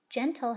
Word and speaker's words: gentle: as in gigi cat the next word is gentle gentle has a soft g as in gigi cat and i know that's the case because the letter e is what comes after the g and e is in